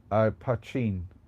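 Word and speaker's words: poitín: Pachin. That's how you pronounce it, Pachin.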